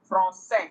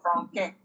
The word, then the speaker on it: français: Okay, so it is just used to soften C to give it an S sound. Garçon instead of garçon. Français instead of franquin.